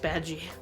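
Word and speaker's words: Badguy: And he's like, it's pronounced Badgie.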